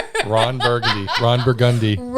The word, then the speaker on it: Burgundy: Ron Burgundi. Ron Burgundi. Yeah, it's Burgundy. Uh, and now people are understanding. Have some empathy for why like this. This is spelled Burgundy.